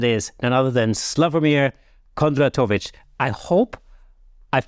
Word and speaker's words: Kondratovic: business Mastermind that is and other than slavomir Kondra tovich I hope I've pronounced your name right you did great thank